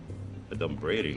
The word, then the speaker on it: adumbrating: Adumbrating, that's not even a word. Okay, first of all, it's pronounced adumbrating.